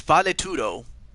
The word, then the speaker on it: Valetudo: It took me a while to figure out how to pronounce the name of this, but it's valetudo.